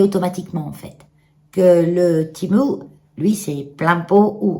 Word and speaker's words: Temu: Blue là, de Timo, c'est Timo en fait le nom. Hein, comme ça se prononce Timo. Nous on dit Temu, c'est bien.